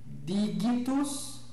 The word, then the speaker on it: digitus: O G, assim como o C, é sempre gutural, ou seja, G, né? Nunca som de G, né? Como em gelo. Então, temos lá digitus, magnus, gemma, certo?